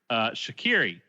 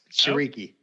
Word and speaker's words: Chriqui: Shakiri. Nope. Chriqui. Chriqui. Excuse me.